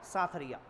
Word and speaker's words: साथरी: इनके को साथरी या साथरिया। प्रोनाउंसिएशन की दिक्कत है, लेकिन एक्चुअल में कहते क्या है? साथरी कहते हैं इनके उपदेश स्थलों को।